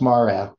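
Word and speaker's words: מראה: well, it's pronounced mara, but we can argue about that some other time.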